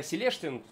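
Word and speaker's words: Celestion: Очень сильно они отмечают то, что у них стоит Селештин, натуральный Селештин, правильно, когда Селештин читается, 12-дюймовый, V-образный двигатель.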